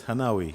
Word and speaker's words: Hanawi: Did I pronounce it rightly? Yes, it's Hanawi. Hanawi.